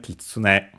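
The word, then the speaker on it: 狐: Unaccented kitsune.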